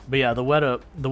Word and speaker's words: Weta: had the W but I was trying to add like four too many syllables to it and you know in my head I'm like I know that's wrong but yeah the WETA the WETA workshop and uh we